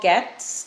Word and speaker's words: Getz: Okay, I spoke to Paul Getz today, and that's how you pronounce it, because we were debating on that.